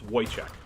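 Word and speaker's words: Wojcik: don't know it's w-o-j-c-i-k it's wojciech or at least that's how i pronounce it even within my family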